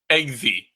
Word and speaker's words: Eggsy: he's a name again egy eggsy like eggs yeah or like eema like I'm pretty sure it's spelled EG g y and they do tease